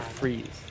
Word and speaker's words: Fries: they do have Peter freeze uh which is his last name is actually it's spelled like fries like french fries but it's free he told me and